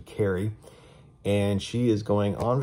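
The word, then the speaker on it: Cari: about a girl named carly or sorry carrie it's spelled c-a-r-i so i keep wanting to say carly but it's actually carrie and she is going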